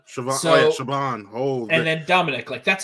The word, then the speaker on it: Siobhan: Pádraic, but it's Pádraic, it's Collin, even though it's spelled Colm, Collin. And then Siobhan is Siobhan. Siobhan.